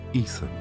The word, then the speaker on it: Etham: But in Hebrew, El Yittim can also be pronounced Etham.